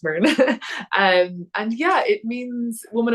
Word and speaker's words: Muirgen: So it looks like Mergen, but it's pronounced Mern.